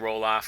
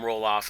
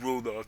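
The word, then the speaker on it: Ralof: my friend Roloff, or am I mispronouncing his name? I think I am. I think it's R A L Of. So, I'd be Rolof. Well, anyway, I'm going to call him Roloff and let all the grammar Nazis rage at me. It's not Rolled off. That's not how you pronounce it, Turkey.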